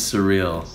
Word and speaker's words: Surreal: My name's Surreal. It's like the word.